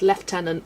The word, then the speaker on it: lieutenant: Say this word left tenant. Yeah, that's the French way. I will agree. It doesn't make sense. And I think a lot of British people when they've read that the first time, they've also said lieutenant. Uh yeah, where the hell is the F? And I agree. Left tenant sounds stupid. Lieutenant makes more sense. I feel like I hear lieutenant more.